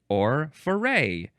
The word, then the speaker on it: foray: For as much as it's just fun to say Next is for or far or also f for feray. You can emphasize either syllable I guess.